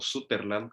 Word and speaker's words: Sutherland: El segundo libro que leí fue el libro de Edward Sutherland, o Sutherland, como se pronunciaría en español, que él fue el fundador de la escuela de Madison.